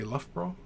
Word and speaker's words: Loughborough: takes heck yeah yeah Joe Lewis says Loughborough Loughborough love okay love bro yeah love bro long